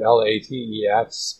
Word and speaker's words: LaTeX: And yes, that's spelled L-A-T-E-X, but one acceptable pronunciation of that is LaTeX.